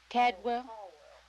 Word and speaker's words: Caldwell: We drove to how do you pronounce that, Grandma? Caldwell.